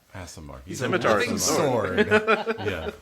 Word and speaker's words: Aasimar: I can't pronounce the angel. Aasimar. Aasimar.